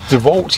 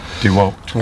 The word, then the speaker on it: DeWalt: about how to pronounce DeVault yesterday. She was calling it DeVault, and I was like, what? It is DeVault. It is DeVault. If you come from a Germanic language, like I do. DeWalt.